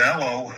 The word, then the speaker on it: Elois: The actual pronunc pronunciation of it is L like Eloise.